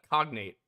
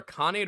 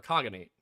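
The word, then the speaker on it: Khaganate: pronounce the words right it's not a cognate it's either a conate or a kogate title of Imperial rank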